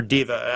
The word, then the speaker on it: Deva: the burning Deva, or Diva. I don't know how Deva is how you... Is Deva? Deva is how I pronounce it myself.